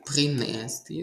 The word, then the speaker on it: принести: Наголос повинен бути на останній склад. У двоскладових дієсловах наголос завжди на ти. Принести, привести, нести, вести і так далі.